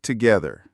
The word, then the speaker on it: together: We work together. The word together has a flap t, so it sounds like together.